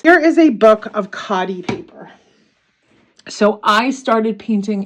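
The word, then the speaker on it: Khadi: good results from this cotti paper I think I I didn't remember how good I had it with this cotty paper so it's spelled KH a DI I will put a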